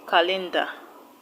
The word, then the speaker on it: calendar: Option D calendar. Calendar. Calendar is a name of something. You know what a calendar is. So the stress will go to the first syllable.